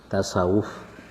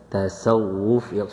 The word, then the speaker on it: tasawuf: Ejaan bahasa Melayu dia akan berbunyi tasawuf. Ya, tasawuf sebenarnya dalam bahasa Arab mesti ada dua W ya. Iaitulah tasawuf huruf sad.